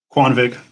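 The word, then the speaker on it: Kvanvig: you say it again kwan vig kwan vig that's good i said it like an idiot before quan that's okay say it like a w yeah yeah kwan vig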